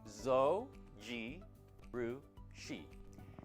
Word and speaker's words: Zojirushi: Here is how to pronounce Zojushi. Zo gi rui.